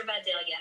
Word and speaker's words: Vidalia: These are Vidalia onion cups. So we need sweet onions. And I'm a Georgia native. All right. Somebody said Shout out to the South. it's actually pronounced Vidalia.